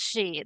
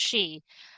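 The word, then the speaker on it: sidhe: the um, the she, it's pronounced she, the s i d h e, that is pronounced she.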